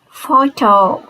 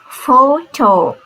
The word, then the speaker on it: photo: of the word and if a word contains pH it is pronounced like f sound these are some examples see photo we never say Pho it should be photo then phone dolphin elephant